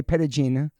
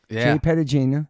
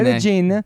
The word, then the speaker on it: Petagine: Did I say it right? J Peragena. Peragina. Peragena. Every time we say Italian name, you want to say some It's more a than uh at the end.